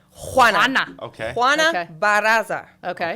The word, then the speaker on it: Juana: Like I butchered Moana? it. I apologize. Or- No, Juana. Juana.